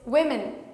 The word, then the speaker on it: women: The next one is women, women. Same thing, but we pronounce it we, women.